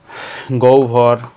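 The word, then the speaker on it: গহ্বর: আর কি গৌভর দেখো গর সাথে একটা অ আছে এজন্য হটা হবে ও গও ব হয়ে যাবে ভ ব্যাস মূল কথা হচ্ছে হর সাথে ব যুক্ত রূপ থাকলে উচ্চারণের সময় হ আর বর কোনটাই বসবে না ঠিক আছে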